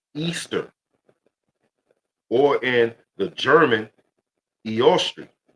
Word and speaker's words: Easter: So, back to the Ishtar, which is pronounced Easter or in the German Eost, the goddess of dawn, right?